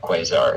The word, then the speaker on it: Quasar: His name's Quasar, starts with a Q, rhymes with... Kazar. Yeah, there you go. I was trying to think of something that rhymed with Quasar. Lazar. Laser! His name is Quasar, rhymes with Quasar laser.